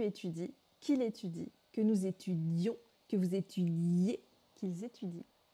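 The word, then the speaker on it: étudiions: C'est simplement la prononciation qui va changer. Présent, nous étudions. Imparfait, nous étudions. On doit entendre les deux I. Que nous étudions, subjonctif présent.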